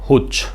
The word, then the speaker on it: hooch: Death by हुच, क्या pronunciation है? हुच।